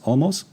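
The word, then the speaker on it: Olmos: Uh Edward James almost.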